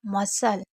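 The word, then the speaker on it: muscle: जैसे कहीं पर भी SCLE ही होता है तो आपको सी को नहीं पढ़ना है। यानी कि एस और सी को सा पढ़ना है। क्या पढ़ना है? सा पढ़ना है। जैसे इसको आप क्या पढ़ेंगे? सल पढ़ेंगे। वैसे भी नॉर्मल हम सल ही पढ़ते हैं, लेकिन फिर भी आप याद रखिएगा। कॉर इसे क्या पढ़ेंगे? पर्सल, कॉर्पसल और इसको मसल।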